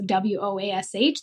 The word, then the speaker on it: Woash: And then it was a sounds like, so WOASH, they were trying to teach somebody how to say it.